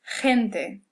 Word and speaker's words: gente: But when it's before an E or before an I, it kind of sounds like a real hard H. The word for people is gente.